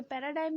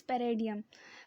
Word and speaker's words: paradigm: theoretical रो पैराडाइम पैराडाइम ये पैराडाइम भी पढ़ सकते इट इ प्रोनाउंस एस पेडियन पेडियन ठीक है तो